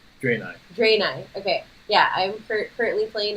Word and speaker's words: Draenei: I am currently playing, is it pronounced Draenei? Draenei, okay.